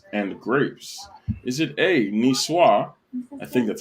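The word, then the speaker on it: niçoise: it yeah that's french he's spanish about no nicoise which was the correct pronunciation by the way i looked it up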